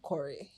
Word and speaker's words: Qoray: We had to change the name from Ko to Cory actually so that the whole full name can be pronounced right, yes.